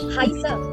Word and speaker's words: heiße: Ich heiße. So that beta sign I'm talking about earlier is that beta. This beta sign is pronounced as double S in a word.